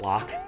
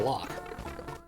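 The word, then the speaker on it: loch: It's lock, not lock. Yeah. It's true. That's how the Scots spell it.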